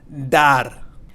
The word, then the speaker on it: dar: Dar. Dar means to give. Dar. And be very careful that you don't pronounce this as dar.